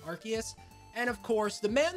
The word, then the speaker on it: Arceus: We have ourselves Arceus or Arceus, however you want to pronounce it. I go with Arceus.